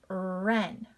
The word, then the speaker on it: wren: Wren.